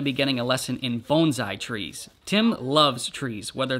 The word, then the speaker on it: bonsai: in a Candlestick and yes it actually is pronounced Bonsai Tim told us that that is the proper pronunciation I always thought it was Bonsai all right time to get to work this